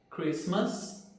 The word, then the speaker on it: Christmas: Nessas palavras, a letra T não é pronunciada. Então, como que ficaria a pronúncia dessas palavras? Ficaria assim: Christmas, listen, fasten, mortgage e nestle.